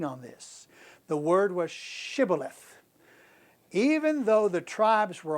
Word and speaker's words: Shibboleth: And if he said no, then they would say to him, "Say now, Shibboleth." But he said, Sibboleth, for he could not pronounce it correctly.